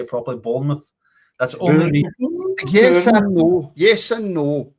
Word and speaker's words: Bournemouth: Bournemouth.